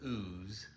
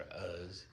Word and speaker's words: Uz: In the land of Uz or Us, UZ, you pronounce it.